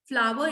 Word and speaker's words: flour: Flower is the correct pronunciation for FLOUR.